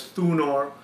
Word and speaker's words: Thunor: it as Donar the Anglo-Saxons pronounce it as thunor the actual pronunciation was thunar so one question comes to